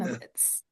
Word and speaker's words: Wolnowitz: Wolnowitz. Thank you, Don. Wolnowitz. Just like it's spelled.